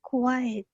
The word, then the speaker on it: quiet: Because we say quiet. Quiet. Quiet. Quiet. Quiet. It's two parts. Quiet. Quiet. Quiet. Right? So it's two syllables.